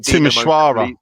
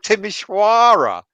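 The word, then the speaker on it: Timișoara: So you're having a go at me when I say Sufal is Sufal, and now you're coming out with Timisoara. Well, that's how it's pronounced. They're Romanian.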